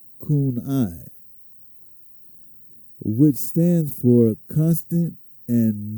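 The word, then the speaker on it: CANI: As a result of this understanding, I created a simple mnemonic Kenai, pronounced Kunai, which stands for constant and never ending improvement.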